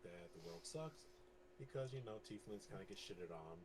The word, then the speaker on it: tiefling: Tiefling. Yeah, tiefling. Tiefling, yes. Think of the word leafling, but it's Tiefling.